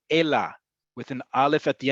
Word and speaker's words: אלא: Ela with an aleph at the end. It is not ele. It is not any other thing. It is ela. It has to be spelled and pronounced.